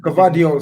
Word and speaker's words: Guardiola: Guardiola.